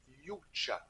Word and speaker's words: Yucha: est le couteau oui yucha je pense que ça se prononce comme ça c'est y u C